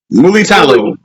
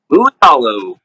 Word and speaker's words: Mulitalo: Mulitalo. Mulitalo.